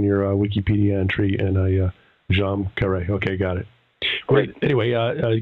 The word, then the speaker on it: Djam Karet: phonetic spell in your Wikipedia entry and a jeam Kare okay got it anyway uh Gail is kind